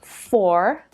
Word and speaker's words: four: Australian English it's not let's look at the number four as an example it's pronounced for in American English and four in